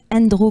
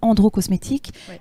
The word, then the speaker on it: Endro: très bien parce que donc on prononce bien andro cososmétique non pas androcosmétique andro ça a une signification